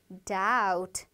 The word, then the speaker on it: doubt: doubt로 읽을 것 같죠? 그런데 여기서 B가 묵음이에요. 들리지 않아요. 그래서 doubt, doubt 이렇게 읽습니다.